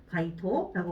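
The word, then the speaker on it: 街頭: 이 가두라고 지금 들어가 있는데 이거는 약간 길거리에서도 약간 좀 머리에 나와 있는 길거리 있잖아요. 가두 엔진 뭐 이렇게 얘기하잖아요. 가이토라고 보시면 되고요.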